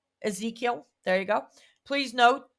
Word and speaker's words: Ezekiel: Ezekiel. Ezekiel.